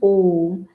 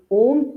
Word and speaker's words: Om: Similarly, when we open our mouth with a and close our mouth with ma, the entire universe is there in this. Therefore, this Om represents the entire manifest universe.